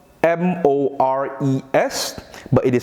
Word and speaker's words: mores: at mores as you may have noticed here it's spelled m-o-r-e-s but it is pronounced mores maurice refers to